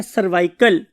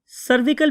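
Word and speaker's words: cervical: हैं वो क्या है सर्वाइकल सर्विकल भी बहुत से लोग बोलते हैं बहुत से लोग सर्वाइकल भी बोलते हैं स्पेलिंग आपको आने चाहिए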